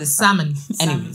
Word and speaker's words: salmon: to let you know now that the egg is silent the early silence salmon so basically you know when they take the